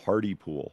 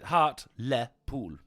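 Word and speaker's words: Hartlepool: to my larger monitor Hardy pool yeah no heart Le pool it's heart Le pool heart Le pool what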